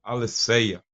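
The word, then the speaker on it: ἀλήθεια: Tanto é que a palavra grega para a verdade, nós podemos pronunciar como aletheia. Escreve assim, aletheia, né? Fica mais fácil para a gente na língua portuguesa, mas tem uma pronúncia muito perto do aletheia.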